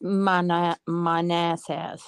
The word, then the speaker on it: Manassas: It's pronounced Manassas. Accent on the nice.